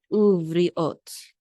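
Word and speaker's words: וּבְרִיאֹת: And the accent mark is on the last syllable right here. Ot, uvriot, uvriot. Actually, with the yud.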